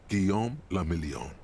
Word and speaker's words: Guillaume le Million: Guillaume le Million. Guillaume le Million. If it doesn't rhyme, you're not pronouncing Guillaume it right.